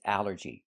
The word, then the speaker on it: allergy: The first word is allergy. The first thing that's important is the A L L. This word breaks the rule. The rule is A L L makes the sound all like ball and call.